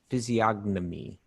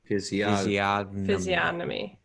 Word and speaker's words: physiognomy: see it is physio physiognomy physiognomy the question was is the i think the g is silent physiognomy physiology well that's a